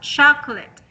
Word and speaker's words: chocolate: Like this one, we have chocolate. The first. Yes. Okay. First syllables.